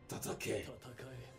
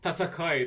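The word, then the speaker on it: 戦い: Tatake. Jeez! Tatakai, not tatake, but tatakai.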